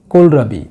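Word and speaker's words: kohlrabi: Number দুইতে রয়েছে কোলরাবি, এই তো উচ্চারণ হবে না, কোলরাবি, এখানে আপনাদের বোঝার সুবিধার্থে আমি বাংলায় টানিপ কোলরাবি লিখেছি, এখান থেকে আপনাদের নিশ্চয়ই একটা মনে থাকবে টানিপ কোলরাবি।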